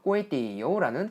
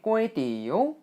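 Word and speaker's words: ก๋วยเตี๋ยว: 참고로 제가 태국식 쌀국수 얘기를 할 때 꼬에띠요 요거 발음할 때 앞에 꼬에는 삼성 뒤에 띠요는 사성으로 꼬에띠요 라고 발음을 했는데 글자상으로는 이렇게 성조법상으로 보면 꼬에띠요가 사성으로 꼬에띠요 라고 발음이 돼야 되거든요. 하지만 현지에서는 이렇게 꼬에띠요 라고 해서 삼성 사성으로 그것도 앞에 꼬에는 조금 짧게 꼬에띠요 라고 발음하니까요.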